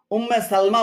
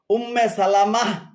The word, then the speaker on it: উম্মে সালামাহ: হবে লানা 39 নম্বর অনেকে ভুল করে রাসূলুল্লাহ সাল্লাল্লাহু আলাইহি সাল্লামের সহধর্মণীর নাম এক সহধর্মণীর নাম উম্মে সালমা বলে থাকেন এটি শুদ্ধ নয় শুদ্ধ হল উম্মে সালামাহ বা উম্মু সালামাহ উম্মে সালামাহ বা